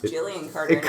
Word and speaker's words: Gillian: Gillian is pronounced with a J, right? Kind of sounds like a J.